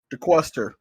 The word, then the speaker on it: DeQuester: DeQuester is how.